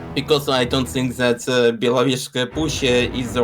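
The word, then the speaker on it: Belovezhskaya Pushcha: Belovezhska Pushcha. I'm obviously not pronouncing that right. Can you help me? Can you help me out? Yes, I can. It's actually Belovezhska Push.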